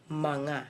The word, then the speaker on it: mga: manga before the word manga is spelled M G L is the only word in M and G years together so mga but it is read as manga so let us try